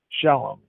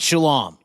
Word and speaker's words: Shellum: I don't know exactly what Shellum does, but I believe it's pronounced Shellum. It's not Shalom. No, I think it's Shellum.